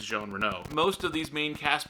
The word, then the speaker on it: Jean Reno: It looks like it's spelled out Jean Reno, but it's pronounced Jean Reno.